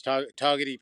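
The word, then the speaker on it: Togwotee: You don't pronounce the W. It's toty pass.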